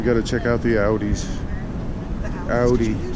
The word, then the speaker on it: Audi: Oh, we got to check out the Audis.